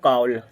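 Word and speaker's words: call: एफ A double L fail हो गया fail नहीं पढ़ेंगे फॉल सी A double L कल नहीं पढ़ेंगे इसको बोलेंगे कााउल एस टी ए डबल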